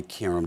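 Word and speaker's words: Qerim: you doing filling in for the great Molly Karam. Did I pronounce her name right? Karam, okay.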